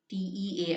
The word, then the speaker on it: tear: Tear. Actually, the pronunciation is tear.